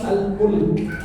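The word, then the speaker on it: الملك: Nah, itu salah. Pelafalannya salah, gimana bacaannya? Namanya surat Al-Mulk. Bacaannya tabarakalladzi biyadihi al-mulk, bukan tabarakalladzi biyadihi al-mulk.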